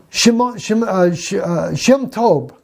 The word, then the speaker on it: Shem Tov: My friends, I mean, Shem Tov, that's how we say his name.